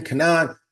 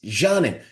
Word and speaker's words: Canan: We butchered her name because it's spelled Canan. So we're calling her Kanan. No, it's Janin.